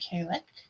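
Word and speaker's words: Cailleach: There is Irish, and there are many different ways to pronounce it. There isn't many different ways to pronounce it, but it doesn't look like it's pronounced. So even though I just went and looked up how to pronounce it, I'm going to say Kalek, and we'll see where that goes.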